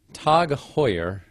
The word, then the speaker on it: Tag Heuer: So, Tag Heuer, which is the, as far as I can tell, the correct pronunciation of what looks like Tag Heuer, but